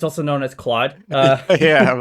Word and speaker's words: Claude: Is it Claude now, or Anthropic rather? And I say Claude because I'm from Quebec. It's also known as Claude.